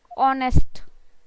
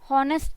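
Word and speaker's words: honest: एन ऑनेस्ट, ऑनेस्ट, हॉनेस्ट नहीं है, ऑनेस्ट.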